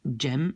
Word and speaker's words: jam: prononcer ça comme, donc jam, et comme on le prononce comme en anglais.